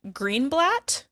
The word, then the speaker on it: Greenblatt: this, Maddie Ziegler, and Ariana Greenblatt, I think is how you say her name. I think I said blot when I did the audio, so sorry.